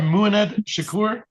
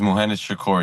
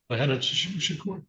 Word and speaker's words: Muhammad Shakur: Correct my pronunciation, sir. You are Mued Shakur. Yep. My name is Muhammad Shakur, your honor. Muhamad Shakur.